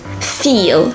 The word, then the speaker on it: feel: in pronunciation to feel when you say the sound e feel your tongue is pressed feel feel whereas in English we